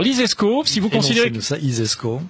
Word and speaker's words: ISESCO: si vous considérez ça isesco euh comme ça se prononce hein i euh donc